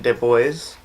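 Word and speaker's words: DeBlois: this movie was written and directed by Dean Dubois that's how you say his name yeah well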